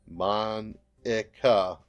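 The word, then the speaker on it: Monika: all people because it's right of your name Monica yeah that's how you say my name it's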